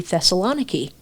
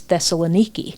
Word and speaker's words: Thessaloniki: I have no idea because here in America, we pronounce the city Thessaloni. Yeah, it's Thessaloniki.